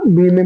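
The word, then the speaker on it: balm: then बम, ये बी ए एल एम बम लिखा जी, हम तो बारम पढ़ता नहीं, बम पढ़ता ना, इसे एल है साइलेंट वर्ड है, तो बम, बी लिखा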